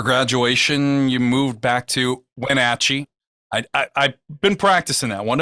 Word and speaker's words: Wenatchee: And coming to Wenatchee, which awesome, you said it right. Not a lot of people can pronounce that name, but coming back here, there